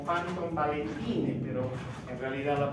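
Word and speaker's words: Panton-Valentine: La escribimos como Panton Valentine, pero en realidad la pronunciamos como Panton Valentine.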